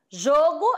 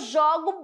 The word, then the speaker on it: jogo: pronúncia vai ser diferente João o jogo jogo eu falo jogo substantivo jogo começou tá bom o jogo aí escolhe seu time Predileto aí você vai falar o jogo aí eu jogo bola ó jogo né